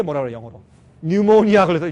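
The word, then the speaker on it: pneumonia: 영어로 뉴모니아 걸렸을 때 뉴모니아, 폐렴 그렇죠? 그러니까 이걸 사실 그대로 읽으면 푸뉴모니아죠. 근데 이 P는 발음 안 하기 때문에 뉴모니아.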